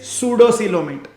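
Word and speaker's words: pseudocoelomate: बाय द वे पी लगाया है पर प्रोनाउंसिएशन इज सूडोसीलोमेट, ठीक है।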